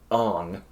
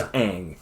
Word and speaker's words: Aang: off his name was ong his name was aang his name is aang yeah they changed pronunciations